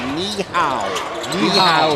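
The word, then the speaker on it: 你好: greet somebody when you're in China you say niow is how you say helloow that's right so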